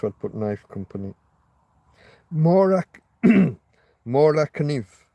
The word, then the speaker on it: Kniv: Mora Kniv. Because you pronounce the K in most of those countries.